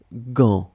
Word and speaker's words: gants: Où sont tes gants? So remember, gants, you can see that there is T, there is S at the end. You don't pronounce it, so it's only the gants.